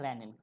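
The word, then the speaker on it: renin: है इसका नाम है रेनिन ठीक है तो रेनिन की स्पेलिंग में क्या है सिंगल एन है आर आर ई एन आई एन इट इज नॉट रेनिन इट इज रेनन ठीक है पक्का मुश्किल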